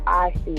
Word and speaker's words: Asi: My name is Asi, like Asiago Nicole.